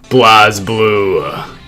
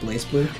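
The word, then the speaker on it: BlazBlue: __ ] number six Blas blue actually pronounced blaze blue blaze blue actually maybe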